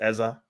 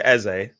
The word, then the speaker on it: Eze: It's Eza. It's Eze, easy. Eza. I mean, people do pronounce it differently, man. This commentator is saying Eza. I say Eze. Some people say Eza.